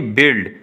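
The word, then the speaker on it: build: फिर है जी बिल्ड, तो बिल्ड में ये देख लें आप यहाँ पे, तो यू तो साइलेंट होगा, बिल्ड हो जाएगा।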